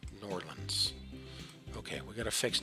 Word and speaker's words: New Orleans: It's pronounced Norlands. Norlands.